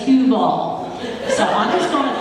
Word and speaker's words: Heuvel: So, um she would like to be known as Huvel. Is that correct? Hug. Hu. Okay. And he would like to be known as Huall.